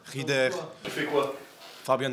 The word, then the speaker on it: Rieder: Comment est-ce qu'on prononce ton nom? On dit Rieder, Rieder, Rieder, Rieder? C'est égal, Rieder. Tu fais quoi? Fabian Rieder.